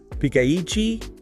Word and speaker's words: ピカイチ: The pronunciation guide is Pikaichi.